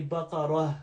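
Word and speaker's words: بقرة: Same way with baqarah, I'd say baqarah with the ha. You can hear the ha sound at the end.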